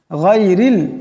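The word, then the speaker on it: غير: শুদ্ধভাবে উচ্চারণটা হবে গাইরিল এখানে রাকে পাতলা আওয়াজে পড়তে হবে গানকে মোটা আওয়াজে পড়তে হবে গাইরিল গাইরিল পড়া যাবে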